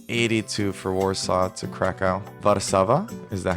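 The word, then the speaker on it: Warszawa: How do you say it in Polish? How to say Warsaw. Varsava. Oo, Varsava.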